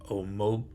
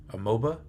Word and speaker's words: Amoeba: this company called Rogue omoba amoa I think is how they pronounce it they got a team